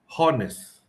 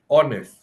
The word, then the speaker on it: honest: students pronounce it as horest while the correct pronunciation is honest silent h yeah so that's normal